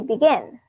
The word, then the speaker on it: begin: Do we say begin or begin? We say begin. So if you stress on the second syllable, then we double the syllable.